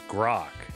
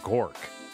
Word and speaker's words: Grok: It's Grok, not Gork. Then Gork why sounds are like you a named bad... Gork? I'm not. I'm Grok.